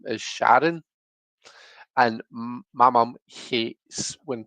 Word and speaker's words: Sharon: A Glaswegian is someone from Glasgow, but Glaswegians often say Sharn, so it's like they make it one syllable. And it's just a kind of a slang way of saying it. There's probably lots of accents that actually say it like that. Um, so Sharn instead of Sharon, my mum hates it.